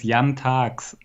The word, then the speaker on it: Jan Taaks: it broke the website no it's a young tax yeah it's a very German name so first of all